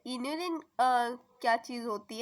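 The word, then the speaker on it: inulin: अब आते हैं इन्यूलिन पे। इन्यूलिन है ये, इंसुलिन नहीं है।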